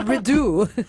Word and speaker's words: Rideau: Or if it's French, then the T is silent.